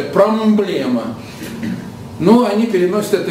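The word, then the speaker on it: πρόβλημα: Поэтому они, сочетание «м» и «п» они превратили в «б», но «б» с призвуком «м». Понятно? Вот само слово «проблема» – это греческое слово, но пишется «промблема». Понятно? Вот так они читают – «промблема».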